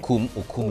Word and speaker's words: Ukum: Over the weekend, more than 80 people were killed in Logo and Ukem LGAs of the state. Did I pronounce the name correctly? Logo, local Logo government, and okay. Ukum, local government.